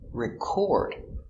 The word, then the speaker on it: record: it is an action record the stress is on the second syllable record so these are